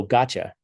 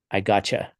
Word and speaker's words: gotcha: English you say oh gotcha I got you right but it's pronounced I got you right don't expl I don't know why the U has a CH sound in it I gotcha I don't know why